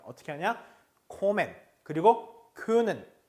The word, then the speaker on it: kommen: 이걸 콤맨하고 읽어요. 얘를 큰맨하고 읽습니다. 그게 아니라 m이 두 개거나 n이 두 개일 때 발음은 콤맨, 큰맨 하지 않습니다. 어떻게 하냐? 코맨 그리고 können.